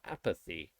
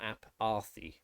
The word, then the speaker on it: apathy: sound like apathy apathy so you've got apathy it is not r it's not app arthe aparthei it's apathy an ah sound so the th one